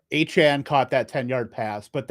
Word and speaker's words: Achane: he just to confirm, he came out and said he wants it pronounced Achane. So difficult, because we've been saying Achane the whole time.